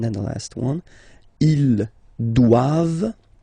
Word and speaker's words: doivent: And then the last one, ils doivent, so same thing, classic ending for the plural form, ENT here, okay, but then you don't pronounce it.